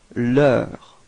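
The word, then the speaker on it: leurs: So actually you can see that this final leur is pronounced the same way as the feminine and masculine form. Even if we put this final S, okay, we don't pronounce it.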